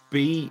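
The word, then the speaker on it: Bois: So, it's called Bis Imperial. So, it's spelled B O I S I M P. So, B Imperial. So, yeah. B. It's French for wood.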